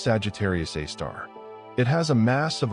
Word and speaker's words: Sagittarius A*: This black hole is called Sagittarius A*, pronounced Sagittarius A star.